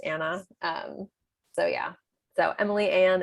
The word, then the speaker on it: Anne: Like Anna, it's Anne with an E, but it's pronounced Anna.